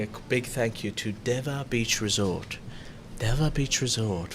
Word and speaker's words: Dewa: You're watching Good Morning Thailand, and I'd like to say a big thank you to Deva Beach Resort.